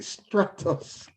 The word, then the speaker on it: Stratos: these guys form stratus have i pronounced it correctly structures as in stratosphere and stratus is the